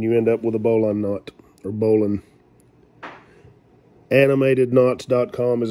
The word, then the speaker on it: bowline: for you today on a bowling knot or bowline it's spelled b-o-w-l-i-n-e if you want to look it